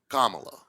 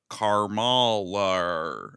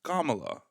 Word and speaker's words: Kamala: Kamala. Yeah. And everyone's like Carala. And you're like, what is wrong with you? Repeat the sounds, Kamala.